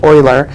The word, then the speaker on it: Euler: named Euler and it's spelled EU le are pronounced Euler and an Euler actually named the the number